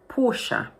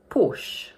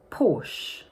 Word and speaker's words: Porsche: In the original language, it's pronounced with 2 syllables, Porsche. But in English, we pronounce it as 1 syllable only, like this, Porsche, Porsche.